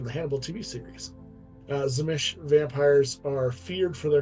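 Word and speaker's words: Tzimisce: said crimon nights they did say that yes zish I would pronounce it zish I would say zish yeah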